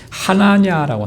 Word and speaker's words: 하나냐: 원래는 히브리 말로는 하나냐라고 합니다.